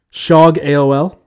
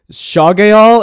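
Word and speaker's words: shogaol: I I don't know shog AOL it's sha gay all its sh o gaol that's all i know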